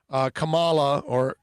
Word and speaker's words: Kamala: Yeah, Tremolio, by the way, goes, but the other guy's half dead, which means Kamala, yeah, that's how it's pronounced, would be president.